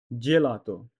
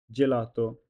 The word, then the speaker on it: gelato: উদাহরণ ginocchio, G plus I G, NOC knock, CHI chi o, ginocchio, gelato, G plus E J, L A la, T O to, gelato, gente, G plus E J, N T E, gente.